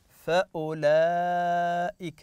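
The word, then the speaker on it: فأولئك: عليه نجد عليه دائره هذه الدائره تعني عدم النطق بحرف الواو طبعا هذه اخذناها في بعض الكلمات قلنا لكم اذا وجدنا حرف الف وعليه دائره او حرف واو وعليه دائره او حرف ياء احيانا ياتي وعليه دائره فلا نقرا هذا الحرف يدل هذا تدل هذه الدائره على ان الحرف لا ينطق لا في الوصل فاولئك يعني لا نقرا الواو المد فقط ناتي بالضمه فاولئك فاولئك بهذه الطريقه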